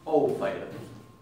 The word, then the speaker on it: Ófær: La vez pasada hablábamos con Brenda de una serie islandesa que se llama Ófær. No se pronuncia Ófær, sino se pronuncia Ófær.